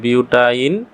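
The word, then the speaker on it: butyne: আর 4 কার্বনের জন্য এটা উচ্চারণ হবে বিউট, আর লাস্টে উচ্চারণ হবে আইন। তাহলে বিউটাইন। আর কার্বন ত্রিবন্ধন আছে 2 নম্বর কার্বনের সাথে, এর জন্য হবে বিউটাইন 2।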